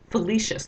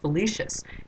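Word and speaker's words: Philoetius: another Liv stuck servant felicious that's a weird way to say this name but that's how it's pronounced felicious and he's the guy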